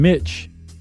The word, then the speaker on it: Mich: And then we got a thank you note from Mitch, M-I-C-H, but it rhymes with rich. So thank you for the thank you note, Mitch.